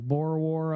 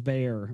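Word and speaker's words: Boer: much time we have oh it's pronounced bore like in bore like bore War okay bore War got you I thought it was bear or beer or something all right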